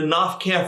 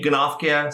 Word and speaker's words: Gnoph-Keh: Now, Gnoph-Kehs, sometimes I say Gnoph-Keh, sometimes I say Gnoph-Keh, is because in English, the GN prefix, you never pronounce the G. But why would you even have it if you didn't pronounce it here? So I'm sure it's Gnoph-Keh.